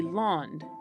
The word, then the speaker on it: laund: The original Old French word is actually laund, l a u n d e, which sounds remarkably like English land because, surprise surprise, both words come from Proto-Indo-European, where it was probably pronounced lend.